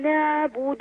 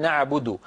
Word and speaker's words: نعبد: جدا من جمله ذلك عين كلمه نعبد لا تنطقوها بارك الله فيكم عاليه نعبد بد هكذا نا بل هي اعمق قليلا العين الفصيحه اعمق من العين التي تعودنا في العاميات ان ننطقها نعبد هكذا العين نعبد اع نعبد ولا نقول نعبد نا ه صوت فموي